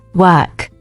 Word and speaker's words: work: In work, the sound is not like or. It is closer to where, like work.